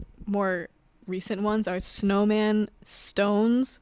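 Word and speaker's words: SixTONES: recent ones are snowman Stones which is spelled six stones but you say stones I don't know that's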